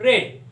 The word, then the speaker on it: read: रीड रेड रेड मतलब spelling same रहता है तीनों भी फॉर्म में वर्ब के, लेकिन प्रोनाउंसिएशन बदल जाता है। तो हम लोगों को रेड प्रोनाउंसिएट करना पड़ेगा।